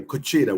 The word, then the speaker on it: cuchara: So the white dude said, it's correct way, cuchara, whatever it was, right?